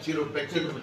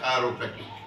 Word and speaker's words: chiropractic: আমি chiropractic তো আসলে উচ্চারণটা অনেকেই সি দিয়ে লেখায় কারণে চিরোপ্র্যাকটিক বলেন, কিন্তু বাস্তবিক এটার উচ্চারণটা হলো কায়োপ্র্যাকটিক।